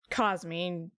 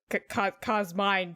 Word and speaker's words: Cosmine: together to make cosmine pronounce cosmine because i don't know cause mine sounds dumb and i did what